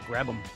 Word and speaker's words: Grabham: I thought it was Graham, but Grabham.